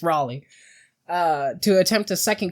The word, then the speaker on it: Raleigh: video where armored skeptic keeps pronouncing it ra but it's Raleigh uh to attempt to